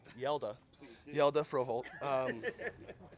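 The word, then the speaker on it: Hjalte Froholdt: Yelda Froholt. Yeah, the HJ, it makes a yeah.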